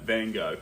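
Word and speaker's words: Van Gogh: But I prefer the American way of saying it. Van Go.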